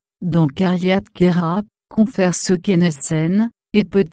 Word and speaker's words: Queyras: Le S final de Queyras est muet, alors que certains visiteurs le prononcent.